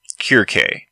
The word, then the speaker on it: Circe: Some words, like the word Circe, do not quite sound the same in Greek. Her name in Greek sounds more like Kirke. There's that pesky English use of the snake C instead of the Greek and Latin hard C.